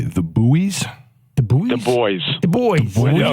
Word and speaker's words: Buoys: The boys. The boys. No, it's Spelled the Buoy boys.